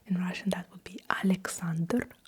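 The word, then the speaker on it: Александр: I will at least I will pronounce it with a Russian accent. So, you have the name Alexander. In Russian, that would be Alexander. Alexander.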